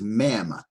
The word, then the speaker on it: Mem: Now the next letter is Mem, M-E-M, and it makes the sound M, as in Moses.